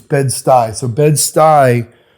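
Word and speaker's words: Bed-Stuy: So it's bed sty.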